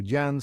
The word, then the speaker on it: Jan: Amsterdam at the time they pronounced the J as Yan so Jan sounds like Yan but the Brits used